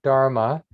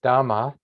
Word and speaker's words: dharma: dharmas are mine so the word dharma you hear a lot sometimes you hear it as dhamma that's the pali version and then it's pronounced dharma in sanskrit and sanskrit and pali